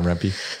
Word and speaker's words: Rempe: Yeah, Rempe.